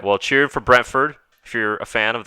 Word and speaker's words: Brentford: the footy match enjoy was it right brentwood am i saying it right brentford brent ford okay french food and fulham